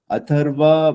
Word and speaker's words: Atharva: the A is silent in the last, but it's Atharva. pronounced as Atharv. Oh, But in spelling, it is Atharva.